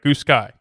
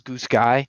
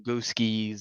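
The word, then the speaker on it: Goosky: gears a little bit, the Goose Sky line, and that is the right way, right? Goose Sky. Yes. Right. Okay. Because I hear people pronounce it all the different ways. I've heard. Yeah, the normal term is Goose Sky. Right. But people call them Goose Skis.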